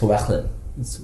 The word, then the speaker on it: Llewellyn: It's actually pronounced Llewellyn.